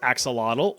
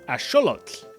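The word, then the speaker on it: axolotl: You've probably been saying this as axelottle or aote for my Spanish speakers, but it actually comes from the Nawat language. So, it would be correctly pronounced as asholot.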